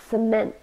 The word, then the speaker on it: cement: means dull or boring cement two syllables and we stressed the second one Cement it's a noun and